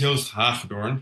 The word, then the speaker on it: Joost Hagedoorn: so my name is y haor it's a Dutch name it's very hard to pronounce but it's like Joseph H for but then the Dutch version um indeed I was